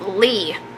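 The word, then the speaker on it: Leigh: your middle name it's Lee and no it's not simple like l e e no it's spelled l e i g h i like the name Lee I love it but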